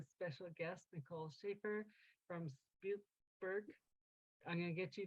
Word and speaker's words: Spiegelbild: the German pronunciation would be Spiegelbild. The Canadian pronunciation is probably closer to Spiegelbild.